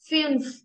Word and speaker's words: fünf: Zwei, 3, drei, drei, drei, 4, vier, vier, 5, fünf, fünf, fünf. ये यू की कैसे sound आ रही है यू. Fünf, fünf.